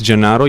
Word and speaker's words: Gennaro: impressed with that uh it's not really easy name to pronounce by the way um my name is jonaro yes and I'm come